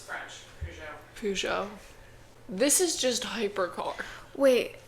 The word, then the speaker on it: Peugeot: Mom, how do you pronounce Peugeot? Peugeot? Peugeot. Okay. It's French. Peugeot.